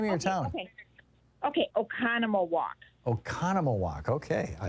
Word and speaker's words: Oconomowoc: you say the name of your town okay oconomowoc oconomowoc okay i like it yeah halfway between